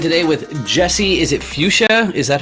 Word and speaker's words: Futia: I'm joined today with Jesse is it fuchsia is that how you pronounce it yeah Dan great job first hit